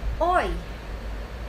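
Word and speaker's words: hoy: So, next is, oy. Oy is today. Ang spelling po nun ay H-O-Y. Lagi po nating tatandaan na pag ginagamit natin ang H sa Spanish, silent H po lagi yan.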